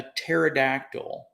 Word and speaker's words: pterodactyl: you can't hear a pterodactyl go to the bathroom you know the pterodactyl is right it's a prehistoric dinosaur anyone know why it's because the p is silent oh this is so